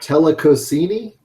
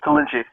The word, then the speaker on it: Tollinchi: Is it Telecosini? No, it's Tollinchi.